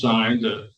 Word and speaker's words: Sains: It's pronounced signs, just like SIGNS.